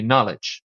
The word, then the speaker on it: knowledge: I guess in American English it would be knowledge. Right? Then this is then connected to acknowledge where arguably the K is not silent.